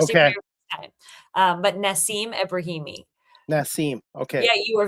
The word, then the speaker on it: Nassim Ebrahimi: But Nassim Ebrahimi.